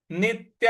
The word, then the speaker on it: नित्यः: शोश्याह-एवाचा; इसी प्रकार, अगला शब्द नित्यः है, 'नि' के बाद आने वाले आधे 'टी' पर जोर देने की आवश्यकता है; ' या' के बाद आने वाले विसर्ग का उच्चारण 'सह' की तरह होना चाहिए।